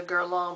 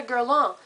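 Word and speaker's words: Guerlain: how um I was always talking about the gong primer that I love so much well the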